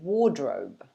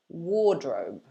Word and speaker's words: wardrobe: in the bedroom usually it's a bit tricky to pronounce i guess because of the rdr in the middle um but this is how we would say it here most people would say wardrobe wardrobe so like i've mentioned